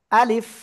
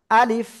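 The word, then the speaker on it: ألف: আশা করি বুঝতে পেরেছেন আর শেষের দিকে নিচের ঠোঁটের পেট উপরের দুই দাঁতের আগার সঙ্গে লাগাবেন লাগিয়ে উচ্চারণ করবেন আলিফ আলিফ আলিফ আলিফ হালকা বাতাস বের হতে হবে সবাই একসাথে জোরে বলেন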